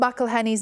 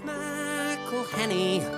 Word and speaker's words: McElhenney: It's McElhenney. First it's Mackle like a tackle when we take him to the ground.